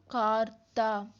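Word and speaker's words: карта: Then next ஏ எப்படி pronounce பண்ணோம் ஆ ஆ. மொத்தமாக எல்லாத்தையும் சேர்த்து ஜாயின் பண்ணி என்ன சொன்னால் கார்த்தா கார்த்தா கார்த்தா அப்படின்னா மேப் அப்படின்னு அர்த்தம் இங்கிலீஷில்.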